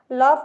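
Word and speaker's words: laugh: हो गया ए यू इसमें साइलेंट है यूजी साइलेंट है यूजी लॉफ लिखा है एल ए यू जी एस लॉफ ठीक है एन आई जी एस टी क्या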